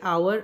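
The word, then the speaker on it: hour: तो पहला देखिए, आवर, आवर में एच साइलेंट है।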